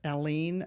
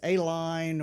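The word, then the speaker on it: Allen: okay um there's a town near me that's alen Oklahoma and people say it as Aline or various other things you're like you're not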